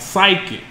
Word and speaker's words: psychic: He gave you silent P words. Like psychic. How about pneumonia?